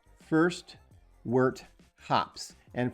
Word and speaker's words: wort: And for some reason I really want to say world hops. So I I had to say it slowly or I'm going to I'm going to say it wrong.